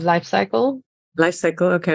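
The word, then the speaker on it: Life Cykel: Well, there's a really good brand if you want something that tastes like nothing called Life Cycle. Life Cycle, okay. And cycle is spelled CYKEL.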